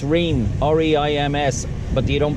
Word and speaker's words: Reims: people call it Reims the S is silent so it's rain re IMS but you